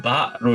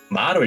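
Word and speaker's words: 馬: 자, 음독은 바라고 읽습니다. 우리나라 말로는 마이지만은 일본어로는 바로 읽는다라고 하는 거는 조금 체크가 필요하겠죠. 마로 읽는 게 아니에요.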